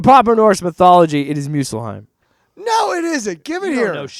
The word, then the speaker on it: Muspelheim: And he goes, you go to Muspelheim. Muspelheim. That's how they pronounce it in the God of War game, and they speak.